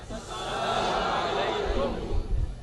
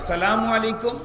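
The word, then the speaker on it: السلام عليكم: শুদ্ধ করা যায় নাকি আসসালাম আলাইকুম ওয়া রাহমাতুল্লাহ আসসালামু আলাইকুম ওয়ারাহমাতুল্লাহ আবার আবার বলি আসসালামু আলাইকুম আসসালামু আলাইকুম শুরুর হামজা যেন স্পষ্ট উচ্চারণ হয় সালামু আলাইকুম এমন যেন না হয় আল্লাহ মাফ করুক অনেক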